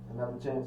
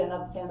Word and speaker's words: Anutha Chanz: But yeah, Another Chanz is spelled ANUTHA and then Chanz, CHANZ.